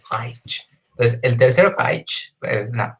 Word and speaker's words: Reich: al famoso Tercer Reich, o si nos queremos poner muy puristas con la pronunciación en Alemania, el Tercer Reich.